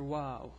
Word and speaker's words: و: This is the letter WaaW. It's pronounced like W in English.